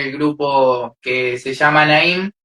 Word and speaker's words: Naim: Naim. Naim. I didn't want to mispronounce the name.